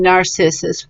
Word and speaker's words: narcissus: we see the word narcissus how do we pronounce it yes good job it's a soft sea and narcissus very good work